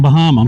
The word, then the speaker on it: Bahama: It's spelled like Bahama, but it's Bahama, and it's actually named after three guys.